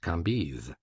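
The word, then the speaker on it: Cambis: was pronounced Levi Kambis C A M B I S pronounced Kambis these antique visages and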